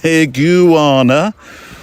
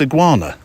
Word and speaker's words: iguana: And again, iguana. It's commendable that Mr. Edwards managed to restrain himself from correcting you during the interview. I have no such qualms. The correct pronunciation is, of course, iguana.